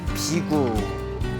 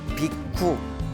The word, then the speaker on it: 비구: 출가한 제자들을 비구라 부릅니다 비구 그래서 인도에서는 비구라 합니다 비쿠 그리고 이제 우리 한문 발음으로는 비구라 이제 부르고 있습니다 비구라